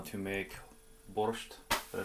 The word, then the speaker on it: borscht: So I'm fortunate enough to have the wonderful Yulia here, and she has agreed to teach me how to make borscht. Did I pronounce that?